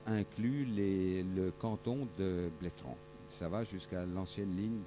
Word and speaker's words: Bletterans: suis arrivé ici à bletterans je ne prononce plus le e on m'a dit tu